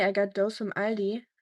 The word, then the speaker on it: Aldi: I have to say I got those from Aldi or all these as Americans say for some reason and it's really good.